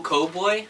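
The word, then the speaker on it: Koboi: fairy opal cocoa boy opal cowboy think how you'd that's how you say it but he needs to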